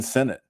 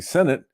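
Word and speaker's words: Sinnott: biggest hits was Ben Senate you know that was one and I was pronouncing it senat because it looks like senat but it's actually Senate and that he was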